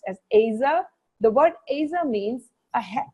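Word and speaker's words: עזר: hebrew we understand that the word helper is a hebrew word which is pronounced as aza the word asa means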